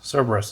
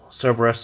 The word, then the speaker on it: Cerberus: soft ear cerebrus cerberus cerberus is probably how you pronounce it i will call it